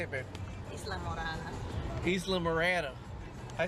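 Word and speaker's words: Islamorada: This is the Isla Morel. How you say it, babe? Isla Morada.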